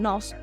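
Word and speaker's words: νοῦς: una palabra que es el nos se pronuncia así se escribe nose es una palabra antigua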